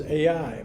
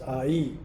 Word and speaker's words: Ai: The way it's pronounced in the dictionary, it's Ai. I thought it was Ai, but it's Ai.